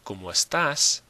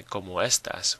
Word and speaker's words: estás: we've got to have that little check mark over the A that shows that that syllable is breaking the rule.